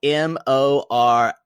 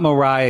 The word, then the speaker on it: Moriah: call her Moriah because her name is spelled m-o-r-i-a-h that's not Mariah y'all that's Mariah that is Moe rice and she will never be known as Mariah to me she will be Moriah we're excited we're gonna